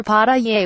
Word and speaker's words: pasteles: has ever made pasteles to pronounce it you skip over the last letter pata yay will understand MS Rivera's